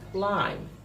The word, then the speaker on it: climb: the letter combination B the B is a silent letter but here I don't say climb but I say climb climb it's not climb